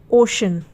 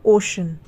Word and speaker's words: ocean: उसी तरीके से OCEAN, तो इसमें सी के बाद ई है तो यहाँ पर जो सी का उच्चारण है वो श हो गया, ओशन, ठीक है।